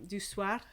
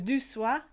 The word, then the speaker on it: du soir: evening du soir um du suar i should say i don't pronounce i never pronounced my arse um sufficiently i think that's that's the english accent in me you've got good ars in in scottish accents don't you um so it's due soir sweet evening and then